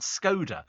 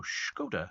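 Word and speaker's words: Škoda: laugh because I think I've been pronouncing it incorrectly for years. I've always said Skoda. And they go, no, Skoda. And then I was on the television the other day and she went, Skoda.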